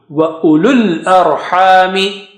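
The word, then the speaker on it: أولو الأرحام: You don't say u and lul, because after lam, with dhamma, there are no signs on waw, on alif, and alif. You just jump from lu to the lam sakina.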